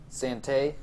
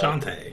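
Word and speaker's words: Shantae: cool things was uh Sante is how you say it Sant in the Pirates curse the new uh Shante shant Shante excuse me God um is they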